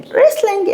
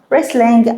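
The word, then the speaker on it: wrestling: القرص عندنا لعبه الريسلين ريسلين اللي هي المصارعه برضو حبايبي عندنا الدبليو مش هنطقها والتي مش هنطقها ريسلين المصارعه هوريك شكل اللعبه دلوقتي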